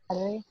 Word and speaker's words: Kaori: Kaori. It's hard to say it without like with no accent. Yeah, because it's like Kaori almost.